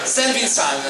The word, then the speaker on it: Saint Vincent: anni scuola Alfredo Totti Festival Saint Vincent si pronuncia Saint Vincent Allora scusa scusami la pronuncia finalissima poi anime